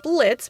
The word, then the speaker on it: Blitzo: Hi, I'm Kitty Monk, and I'm here to talk to you about Helluva Boss, or more specifically, Blitz. The O is silent now.